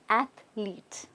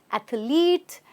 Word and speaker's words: athlete: the next word athlete it's athlete right athlete not athlete or athlete it's athlete